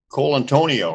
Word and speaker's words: Colontonio: bean show and we're joined today by Cole Antonio right yeah is that how you pronounce it yeah yeah awesome man that sounds